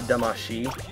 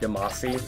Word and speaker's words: Damacy: Obviously, since I use the name, I believe it's actually pronounced Damacy, but I've when I was growing up as a kid, I always said Damacy, Katamari Damacy, which is obviously where my name comes from.